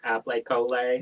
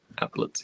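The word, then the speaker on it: Aplets: applets and cotlets oh it's not app colay no applets and cets um chery says Andrew's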